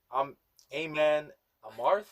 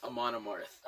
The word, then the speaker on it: Amon Amarth: It's called Aman Amarth? Amon Amarth. Amon Amarth. There we go.